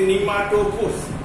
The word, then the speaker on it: pneumatophores: Second kind is called as pneumatophores. That P is silent. You can say nematophores or floats or a bladder-like structure.